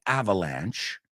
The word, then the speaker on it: avalanche: Barely escaping an avalanche. ¿Te suena? Avalanche. Se escribe avalanche en inglés, pero la E es muda. I think we use the French word.